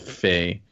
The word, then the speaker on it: Fe: at this point with Fey but sorry FEA stupid Swedish nonsense hey I'm just trying to pronounce it the way they say it the game does this